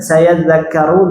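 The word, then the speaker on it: سَيَذَّكَّرُ: Kemudian sayadzakkaru, zal kafnya tasydid, tapi cara bacanya beda. Pertama ngalir, coba. Yang kedua hentak tapi tidak ngalir, dzakkaru.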